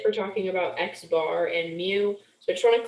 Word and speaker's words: mu: this is pronounced as mu just so you know kind of a fun looking u but it's pronounced as mu um and this is